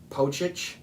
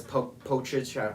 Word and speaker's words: Pocic: And then they have Ethan Pocic. I think that's how you say his name. It's pretty much spelled like Doncic, like Luka Doncic for basketball, but it's Pocic.